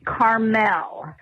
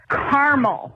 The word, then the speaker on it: Carmel: You guys keep pronouncing it Carmel. Carmel is in California. Caramel is in Indiana. It's more like the candy you eat than the city by the sea.